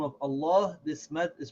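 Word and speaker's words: الله: and the long pal so we say again Allah who now we have to make sure that we pronounce this in a certain way when we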